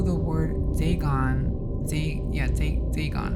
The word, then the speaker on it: Dagon: it's uh oh now they give me the pronunciation so to speak right they gone right was the main deity of the philistines